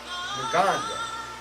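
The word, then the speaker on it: Ngonda: His name is Jalen Nganda. N-G-O-N. The G is silent.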